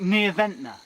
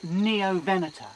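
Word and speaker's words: Neovenator: referring to the Neo Vena it sounds like neov Venta but it's pronounced neoen a ferocious Carnival with dagger-shaped razor sharp teeth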